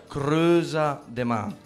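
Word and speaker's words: Crêuza de mä: Il titolo, come dicevo, è in dialetto genovese, si legge e si pronuncia Creusa de Ma, quindi La Creusa sono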